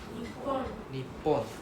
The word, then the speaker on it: Nihon: Nihon Nipon. So there's two reading now. Nihon is a more modern reading. Nepon is the more traditional reading like before 1980s kind